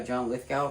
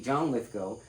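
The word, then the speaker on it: Lithgow: For years, I call this guy John Lithgal cuz that's how his name is spelled. Now, it's actually John Lithco um has appeared in numerous movie roles, television roles over the years.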